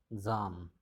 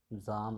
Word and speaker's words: Psalm: Zam, Zam of Life. See the spelling Psalm. P is silent.